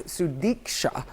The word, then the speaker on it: Sudiksha: The stills show Sudiksha Konaki, sorry I said her name wrong, it's Sudiksha, with her friends at the Rio Republic Hotel in Punta Cana on Thursday morning.